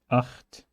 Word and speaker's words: acht: However, acht, Buch, Loch. In those cases, you use A, U, and O, and you have to say acht, Buch, Loch.